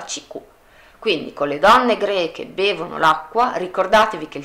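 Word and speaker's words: grecque: Però, perché il QU si leggeva K, la E non si sente, quindi la pronuncia è uguale.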